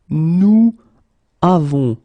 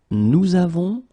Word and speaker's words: nous avons: and then practical reasons, we will make this little link between the two, and we will get nous avons.